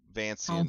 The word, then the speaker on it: Vancian: everyone's Italian yeah Jack Jack Vance was his real name so vancian is why it's pronounced like that I'm sure he was